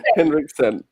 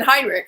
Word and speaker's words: Hinrichsen: Hinrichsen. Hi. It's better than Heinrich.